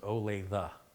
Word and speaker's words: Olathe: Michigan City Indiana Olathe it's a long Oh a long a and a short a for the e so ol eighth and he pronounces it Olathe that's better Olathe is